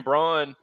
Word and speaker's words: Braun: round picks, like that Christian Braun or Brown, Brown, I think is how you pronounce his name.